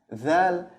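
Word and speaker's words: ذال: Okay, dal, the next one is dal. Dal, it's like the th in English in the word than.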